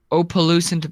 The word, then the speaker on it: opalescent: Opalescent black glass. And Sure. opalescent is how it's pronounced, Stanley.